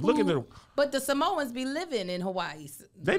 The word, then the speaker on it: Samoan: Samoan. You pronounce every vowel in Samoan.